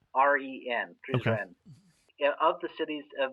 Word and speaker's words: Prizren: I'm not going to try and pronounce these. Prizren. Prizren.